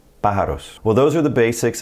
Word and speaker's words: pájaros: See that accent over the A? That's where we're going to put our stress. Pájaros.